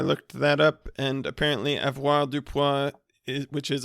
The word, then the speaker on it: avoirdupois: So, I looked that up and apparently avoirdupois, which is a French set of words that they've all combined into one word, is actually pronounced avoirdupois.